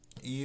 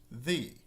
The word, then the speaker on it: Ye: the Third Crusade in 1189, hence the name Ye Olde Trip to Jerusalem. Now, the ye in the title should probably be pronounced the, because it's based on the Old English or Old Norse letter thorn.